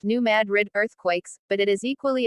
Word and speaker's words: New Madrid: the story of the New Madrid pronounced New Madrid earthquakes but it is